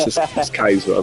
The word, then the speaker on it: Schizo: I honestly, I just learned yesterday it is pronounced Skizo. I mean, Nah, you're good, bro.